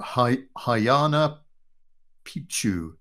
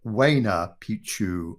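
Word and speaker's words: Huayna Picchu: Then coming forwards, this iconic peak here or monolith, we believe is called, got to pronounce it right now, Hayana Picchu or Waina Picchu, or in English, Young Mountain.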